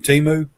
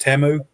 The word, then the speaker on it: Temu: And I bought a lot of stuff from Timu, which I think it's supposed to be pronounced Temu, but I bought a lot